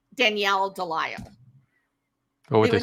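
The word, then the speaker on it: Delisle: I pronounce it is Del right d e l i s l e Del it is an Americanized version of a French name if I went over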